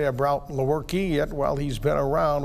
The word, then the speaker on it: Lewerke: It is Lewerke instead of, I've heard Lewerke, Lewerke, I mean all of them. I've heard just about any pronunciation of it, yeah.